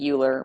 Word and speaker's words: Euler: formula and yes I know it looks like Euler but it's pronounced Euler o-i-l-e-r that says that e to